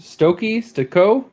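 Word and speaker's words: Stokoe: I'm gonna say it wrong, but it's James Stokey? Stoko.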